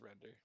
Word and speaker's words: Render: it off with a good old render or rinder, however you want to pronounce it. Of course, it's render.